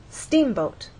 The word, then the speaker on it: steamboat: In steamboat, you will either look in a dictionary and see that the first syllable is stressed, or hear people speak and they'll say steamboat.